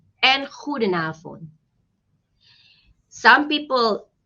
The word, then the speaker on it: goedenavond: It's goedemorgen, goedemiddag, and goedenavond. Some people pronounce the letter D, goedemorgen, goedemiddag, goedenavond. And some people pronounce it as goedemorgen, goedemiddag, goedenavond. That's also correct.